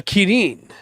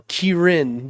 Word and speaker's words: Kirin: in monster hunter really the kirin or kirin depending on how you pronounce it uh but they specifically have it key dash rin so okay you know